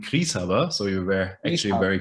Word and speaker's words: Grishaber: way i see it gris harbor it's possibly wrong so tell me how do i pronounce your surname yeah thank you eric for having me my surname is pronounced uh in german krishava so we were actually